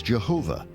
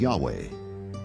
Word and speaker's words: Yahweh: because early European translators were ignorant of the correct pronunciation of Hebrew names. Many inadvertently referred to the name of God as Jehovah instead of Yahweh.